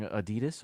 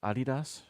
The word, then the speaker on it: Adidas: the left is uh wearing Adidas or Adidas depending depending on where you're from are these penny loafers